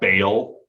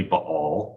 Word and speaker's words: Baal: It's like some people call the fake Canaanite god Baal. It's really Baal.